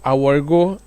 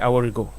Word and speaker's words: Aworigo: Did I pronounce your name well? Not really, but I'll Please forgive you for that. Yeah, forgive me, but pronounce it. Let me hear. I like to hear how it sounds. Aworigo. Yes. Aworigo. Yes.